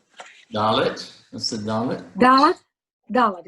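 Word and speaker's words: דלת: Dalet. Gotta get the accent on the first.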